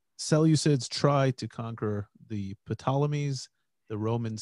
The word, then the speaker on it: Ptolemies: based in Egypt, the Ptolemies. I pronounced the P. And don't pronounce the P, man. I pronounced the P. Silent P. Silent P. And the Seleucids try to conquer the Ptolemies.